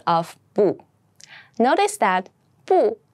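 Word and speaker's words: 不: of BU notice that bu can be pronounced in two different ways and when it's by itself or comes before a first second or third tone then it's pronounced as po how however if it comes before a fourth Tom it switches to the second Tom bo bo I know it seems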